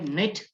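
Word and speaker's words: knit: आपको मैंने कहा था कि के एन जब एक साथ आता है तो के साइलेंट होता है.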